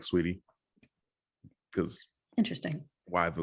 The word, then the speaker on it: Saweetie: like it started out as sweetie like it's like extra letters yeah but there are so many extra letters yeah but it's so weedy i don't know if they i don't know if anybody pronounces it differently i just i'm like sweetie because interesting why the